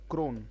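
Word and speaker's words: chron: है व है बेटा सी है एच आर ओ एन है इसका उच्चारण है Chrome कि यह कार्यक्रम हिंदी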